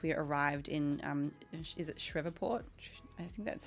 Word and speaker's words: Shreveport: Like we got in like 30 minutes before the athletes check in once we arrived in, is it Shreveport?